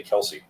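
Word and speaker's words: Kelce: We we pronounced Kelsey wrong for years. It's Kelse.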